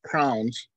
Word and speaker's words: crayon: But a box of crayons, which some people pronounce crowns, becomes what children know as a complete spectrum.